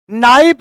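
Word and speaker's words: knife: नाइप अगर लिखते आप NIAP नाइप लिखते तो कौन सा आफत हो जाता?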